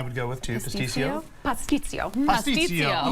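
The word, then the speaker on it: pastitsio: Pasticcio. Pasticcio. Okay, so you do pronounce the T.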